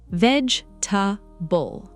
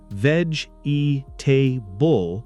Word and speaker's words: vegetable: So if I say veg e tbull people will understand me usually. Yes. But vegetable sounds much more natural.